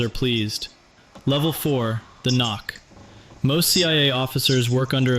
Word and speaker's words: NOC: Knock, pronounced knock.